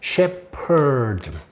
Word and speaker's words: shepherd: 목자, shepherd. 언젠가 한번 요 PH 발음이 P로 난다.